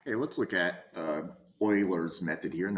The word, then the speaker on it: Euler: Okay, let's look at Euler's method here, and that is pronounced Euler, not Euler.